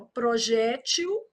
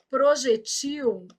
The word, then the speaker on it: projétil: Projétil. Projetil e muda o plural.